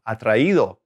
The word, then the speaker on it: atraído: So it's kind of helping you maintain the right stress in the right syllable, atraído.